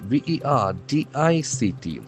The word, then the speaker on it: verdict: V E R D I C T. Here we can see that the middle R is silent.